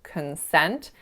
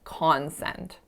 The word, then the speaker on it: consent: the word consent consent so as you can hear it's schwa winner consent however I flipped that so I said concent and then the last